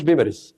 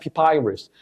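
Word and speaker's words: papyrus: بس تريدر بقى التاجر الكلمه دي نطقها غريب جدا ما اسمهاش بيبرس ما اسمهاش بابروس اسمها بيبايرس بيبايرس دي معناها ورق البراني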